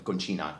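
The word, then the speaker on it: Concina: And he used to refer to himself as DJ Robert Miles, DJ Roberto Conchina. Conchina is the right pronunciation.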